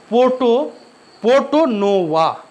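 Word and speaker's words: Porto Novo: हैदर अली और आयरकुट के बीच 1781 में फिर युद्ध हुआ, जिसको हम इतिहास में पोर्टो नोवा, सही से देख लीजिए प्रोनाउंसिएशन, पोर्टो नोवा के युद्ध के नाम से जाना जाता है।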